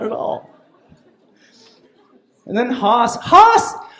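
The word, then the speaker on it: Haus: at all and then Hass Hass Hass is spelled h aus that's just German for house that's all that is and then grits a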